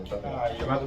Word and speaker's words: Netanyahu: Lembremos que o Benjamin Netanyahu, olha a pronúncia aí, Benjamin Netanyahu, chamado Bibi, ia falar isso agora, ele é um cara de ultradireita, extrema-direita.